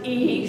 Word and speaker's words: I: one of the eyes actually pronounced E so one in love